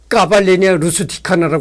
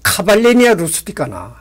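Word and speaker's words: Cavalleria rusticana: 해 됐구나 이렇게 생각했어요 그때서부터 내가이 까발레리아 루스티카나 안 하고 카발레리아 루스티카나 이렇게 얘기를 했다고 여러분들 카페라고 하잖아 카페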